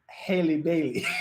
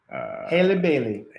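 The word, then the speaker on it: Halle Bailey: And what makes it worse is the fact that the younger singer, her name is Haley Bailey. It rhymes with Kaylee.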